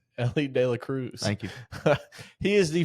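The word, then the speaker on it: Elly De La Cruz: De Cruz. Say his name again. Ellie de la Cruz.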